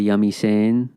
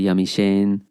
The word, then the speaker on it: yamiseemi: way it's spelled there there's a parentheses around the h because you will hear people say yami saying you will hear people say yamiche and often times it's